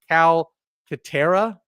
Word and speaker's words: Calcaterra: This is the backup tight end for the Eagles, Grant Calcaterra, I believe is how you pronounce his last name.